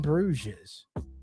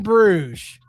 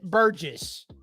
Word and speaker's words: Bruges: it in Brews in Bruges it's not even a word it's a place you would probably pronounce it Burgess so does it start